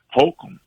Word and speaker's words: Holcombe: It's located at 2002 Holcomb Boulevard. That's Houston, Texas 77030. I'm gonna say it again slowly. Michael E. DeBecky VA Medical Center, 2002 Holcomb. It's spelled Holcombe Boulevard, Houston, Texas 77030.